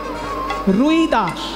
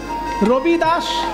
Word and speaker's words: রবিদাস: যিনি লিখেছেন বাবা তাকে বাঙালিরা বলে রুই দাস কিন্তু হিন্দি উচ্চারণে রুই দাস নয় হিন্দি উচ্চারণে রই দাস রই র হসই রই আসলে সেটা হবে রবি রবি মানে সূর্য রবিদাস সূর্যদাস সেটা হিন্দি উচ্চারণে রবিদাস সেখান থেকে রবিদাস আর বাংলায় হয়ে গেছে রইদাস মুচে ছিলেন কিন্তু এমন